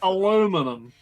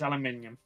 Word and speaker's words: aluminium: aluminum thank you so no no no it's aluminium I don't know what it is in German it's aluminum exactly so that's what it is in English too don't let the Americans tell you otherwise and for like um